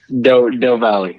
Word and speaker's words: Del Valle: How's it pronounced? Del Valley.